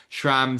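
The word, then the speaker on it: Schramm: But then to ShraMM opening with the quote, am I pronouncing ShraMM right by the way?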